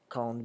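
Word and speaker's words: quand: and you'll notice that with cond when it's coned by itself at the end is pronounced like a D sound like a done when cond comes before a vowel such as Dane County the D changes to a turn sound so count a vote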